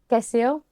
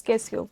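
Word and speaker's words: Cassio: on and also uh Casio am I saying it right? I know I I messed up the character's name the correct pronunciation. It's Quesio. Casio.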